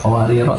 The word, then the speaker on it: قواريرا: Qawariro tulisannya sama ya, tapi bacanya beda. Yang Qawariro pertama itu kalau dibaca waqaf dia pendek, tapi kalau dibaca mohon maaf itu balikin tadi, ini mestinya panjang ya, ini mestinya panjang ya.